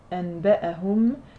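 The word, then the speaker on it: أنبأهم: récitent, eux ils font amba'ahum, donc en fait ils remplissent le noun, ils remplacent le noun par le mime.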